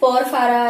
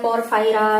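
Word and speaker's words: Porphyra: देखिए कई बार प्रोनाउंसिएशन का डिफरेंस होता है, आप उसको उसी हिसाब से देख लीजिएगा। तो ठीक है, पोरफारा या पोरफायरा जैसा आप लिखना चाहें, प्रोनाउंसिएशन अगर प्रॉपर करूं तो ये ठीक है।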